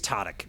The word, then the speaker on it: Tadic: We keep pronouncing your name wrong. It's Tadic? It's Tadic. Tadic.